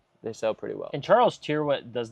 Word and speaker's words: Charles Tyrwhitt: Charles Tyrwhitt.